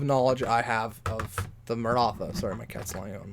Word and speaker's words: Maratha: Maratha. Okay, not Maratha. Again, mispronouncing things kind of my thing.